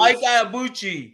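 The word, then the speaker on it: Ibeabuchi: Ike Ibuchi.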